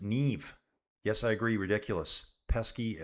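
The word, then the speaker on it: Niamh: Uh, Neem is pronounced nev.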